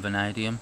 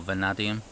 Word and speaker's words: vanadium: where it says chrome vanadium or vanadium depending on where you come from in the world before you start jumping